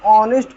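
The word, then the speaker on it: honest: consonant sound नहीं है sorry consonant letter है लेकिन जब हम इस ऑनेस्ट को हम उच्चारण करते हैं तो हम लोग पढ़ने हैं तो हम जब इसका उच्चारण किया तो उसे समय हमारा साउंड क्या निकाला वावेल क्योंकि हिंदी के जो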